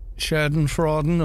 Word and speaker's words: Schadenfreude: Schadenfreuden or something like that.